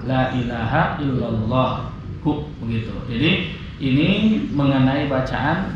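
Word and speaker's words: لا إله إلا الله: Sehingga pendapat kata ulama ini bacanya illallaha. Kata pendapat ini mengatakan illallahu. Yang masyhur, yang paling kuat adalah la ilaha illallah.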